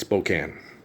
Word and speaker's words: Spokane: problem as the people in Spokane with people mispronouncing their name in their spoken language. No, it doesn't happen. No. It's Spokane.